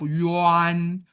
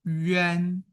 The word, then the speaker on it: 冤: Remember, instead of yuan, we will pronounce 冤.